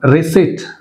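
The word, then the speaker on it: receipt: right P అనేది ఇక్కడ silent and next one రిసిట్ రిసిట్ అంటే P silent రిసిట్ and next psyche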